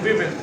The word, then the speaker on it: women: Equality among main and वीमेन। जब WOMAN तो बोलेंगे वुमेन, और इसका प्लूरल बनेगा WOMEN। इसका प्रोनाउंसिएशन होता है विमेन, ई पर स्ट्रेस नहीं देना, विमेन। वुमेन मतलब एक, विमेन मतलब प्लूरल।